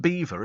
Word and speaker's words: Belvoir: it's called It's pronounced Beaver isn't it I know it's it's spelled Belvoir but I think it's beaver and people go out